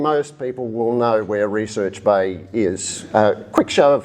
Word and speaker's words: Recherche Bay: to the south as Recherche Bay, which is indeed the French pronunciation. But as an old-timer from the Huon, it has only ever been Recherche Bay to me.